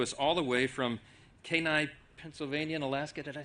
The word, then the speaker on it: Kenai: she comes to us all the way from Kenai, Pennsylvania, and Alaska. Did I say it right? Kenai?